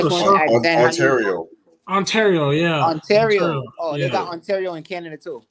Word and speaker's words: Ontario: Antonero in California. That's how you say it? I just want to ask Zen, Ontario.